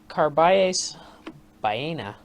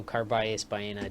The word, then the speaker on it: Carballés Baena: Now, Carballés Baena, the 101st seed, Miss Scusi, took out Denis Shapovalov in 5 sets.